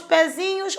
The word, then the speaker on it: pezinho: Toda vez que você puser um sufixo na palavra, a primeira sílaba do sufixo é a sílaba tônica, é a mais forte.